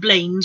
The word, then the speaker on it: Blanes: Blanes. Looks like Blanes, but it's pronounced Blanes in Spain.